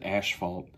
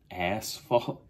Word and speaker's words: asphalt: I always called it when I was young, I always said asphalt. So when I say it properly now, it throws me off. I'm like, asphalt.